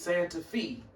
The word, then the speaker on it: Santa Fe: But then if you read it for what it says, it says Santa Fe. Just because it's an E missing off the end, don't change the pronunciation of it saying fee, just like it's an